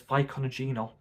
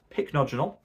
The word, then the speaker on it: pycnogenol: A while back, I used to call this pycnogenol. Don't know why. If you remember those days, let me know in the comments. But pronounced pycnogenol.